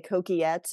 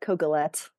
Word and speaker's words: Coquillette: right it was perfect if you were French you might say kette but you know as Americans we just we get those L's in there calette yeah um well thank